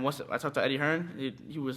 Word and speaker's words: Hearn: quite likes it now I think he's Hearns here in the UK's Hearn yeah all right no